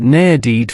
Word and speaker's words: needed: Need d is difficult, but needed flows perfectly.